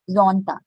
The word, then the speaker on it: Sonntag: Again, Z, Sonntag. So their Montag, their Dienstag, der Mittwoch, der Donnerstag, der Freitag, der Samstag, der Sonntag.